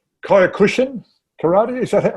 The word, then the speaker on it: Kyokushin: Kyokushin karate, is that how you say it? Kyokushin, karate as well.